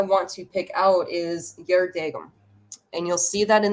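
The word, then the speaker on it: geardagum: And if you look at that word, you can kind of recognize it because that G is usually pronounced as like a Y. So it's Yerdagum. Years ago, years gone by, days gone by.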